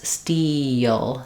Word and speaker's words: steel: a little bit of a y glide that happens in between. So you can think of it as steal, steal. If it's difficult for you to say the E plus L combination, eel, eel, you may find it helpful to recognize there's that little gliding that happens, steal.